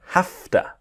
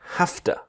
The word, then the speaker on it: have to: So it's like the HAF and to will become hafta.